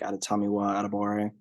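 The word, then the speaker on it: Adetomiwa Adebawore: is possible that they grab a guy like atatamiwa adabore that pronunciation is correct by the way I looked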